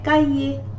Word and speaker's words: cahier: As you know, the letter H is not pronounced in French, so we say cahier.